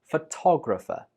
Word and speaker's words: photographer: But when you are the person that takes the picture, you are a photographer. The stress is on to. Photographer.